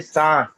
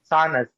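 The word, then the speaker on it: سانس: We say Sans. Correct. Sans. We don't say Sanas. We say Sans.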